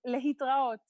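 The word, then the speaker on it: להתראות: Litraot. Or you can say bye. But it says lehitraot.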